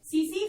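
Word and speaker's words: tsetse: That is known as सीसी फ्लाई। TSE T silent रहेगा, सीसी फ्लाई हम इसको बोलेंगे, और इसका साइंटिफिक नेम है ग्लोसिना पैल्पैलिस।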